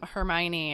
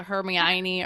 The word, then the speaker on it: Hermione: totally I don't even know what I was pronouncing her name was but it was so off like it was a herion I don't know what I was saying but